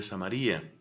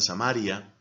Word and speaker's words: Samaría: en las ciudades de samaría la verdad es que es amaría otros pronuncian samaria era considerada por los